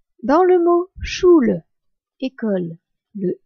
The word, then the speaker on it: Schule: u l e attention un U sans tréma se prononce ou en allemand alors qu'un U avec trma se prononce U ou u dans le mot choule école le U se